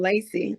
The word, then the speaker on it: LACEE: I'm here with the powerhouse of Memphis, Tennessee, the Southern blues vocalist, LACEE. Am I pronouncing your name correctly? Yes, ma'am, LACEE. That is it.